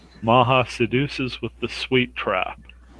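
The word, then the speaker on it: Macha: maha maha's platform is maha m-a-m-a-h-a sorry remember correctly it's been a long time but i think it's always supposed to been m-a-c-h-a maha which is a german pronunciation okay got it one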